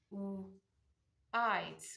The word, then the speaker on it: white: White is another word that follows the silent E rule. The E at the end is dropped and the I is made a long vowel because it's a preceding vowel.